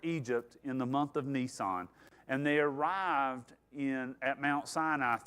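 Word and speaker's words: Nisan: So, uh now that month is the month of Nissan, like the vehicle, but only one S. Uh it's pronounced the same way, but they're in the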